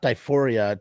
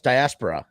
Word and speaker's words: diaspora: diaspora or uh uh I can never pronounce this word properly I read it all the time it's uh uh not diphoria die diaspora yeah no it's diaspora it is diaspora yeah that's the best